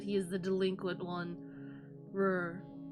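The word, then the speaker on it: Rher: Rur. How would you pronounce that? Rur. Rare? Rare, the trickster moon god.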